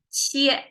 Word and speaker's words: 切: Number 7 pronounced as 七. And when it combined with knife to have the meaning of cut something into 7 pieces, the sound a little bit transformed or morphed into 切 instead of 七.